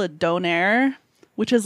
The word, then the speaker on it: donair: Well, where I'm from, it's like D-O-N-A-I-R. So it's like okay. Donair.